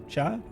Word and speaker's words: chat: Well, in French, cat is chat with the t is silent. So, chat, but the ch is more like sh.